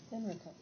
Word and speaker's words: Henrico: And he came and there near Jamestown established, I don't know how to pronounce it, Enrico. Did they say Henrico or Enrico? Henrico.